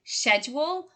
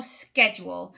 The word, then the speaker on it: schedule: good news is that probably the two ways that you've heard are actually correct so you can either say schedule or schedule so i think typically